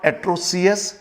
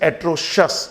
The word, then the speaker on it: atrocious: ठीक ऐसे this is नॉट एट्रोसियस, this is एट्रोशस, जैसा कि ये लिखा शस।